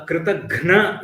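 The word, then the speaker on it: kṛtaghna: A Kritagna is one who is ungrateful. So very slight difference. Note the pronunciation. Gnya for the one who is grateful. Ghna is for the one who is ungrateful.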